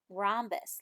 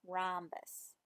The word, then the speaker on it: rhombus: is called a rhombus that might be a new word for you rhombus look at it and look how it's spelled with the H rhombus okay now here's one